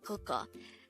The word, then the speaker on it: 그거: The first one is 그거. This is pronounced as a two-syllable word.